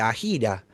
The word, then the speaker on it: AJIRA: Soy el parte de conse- AIRA y, bueno, a algunos le dicen AJIRA, nosotros le decimos AIRA, pero no hay ninguna pronunciación correcta, son siglas.